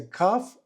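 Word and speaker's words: cough: Дивіться на слово кав. Вимовляється каф, але не намагайтеся читати його по буквах.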